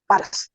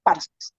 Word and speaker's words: पारस: एक nation state है, और वो है पारस, जिसको वो फारस कहते हैं, कुछ उच्चारण बिगाड़ के पर्शिया कहते हैं, नाम है पारस।